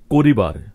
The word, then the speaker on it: করবার: এখানে চলিত ভাষার প্রতিটি শব্দের শুরুতে যে অটি রয়েছে প্রতিটি অকেই আমরা ও বা ওকারের মতো উচ্চারণ করেছি, কারণ সাধু ভাষায় এই আদ্য অ এর পরে রস্বইকার ছিল।